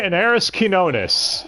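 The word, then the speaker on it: Anairis Quiñones: Voiced by Inaris Quinones. And yes, that is 100% how to pronounce her name.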